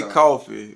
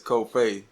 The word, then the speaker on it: Cofe': They say coffee, but it's Cofe. Yeah. But, you know, the easiest way I get it to them is like C-O-F-A-Y. Like Cofe.